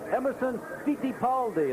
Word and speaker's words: Emerson Fittipaldi: This week, the pilot, Emerson Fittipaldi. That's how they pronounce it in his homeland, but here in the States, we call it Fittipaldi.